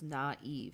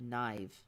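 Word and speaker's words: naïve: Because I is one syllable. A-E is two syllables. So it's naive instead of naive.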